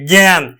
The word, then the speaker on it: জ্ঞান: গজফল আকার দন্তন হস জ্ঞান আমরা কিন্তু এইভাবে উচ্চারণ করি জ্ঞান তার মানে এই আটা এ এর মত উচ্চারণ